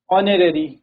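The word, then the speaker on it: honorary: ठीक है, H silent है तो क्या है, ऑनरेरी, एयर, ऑनेस्ट, होटल।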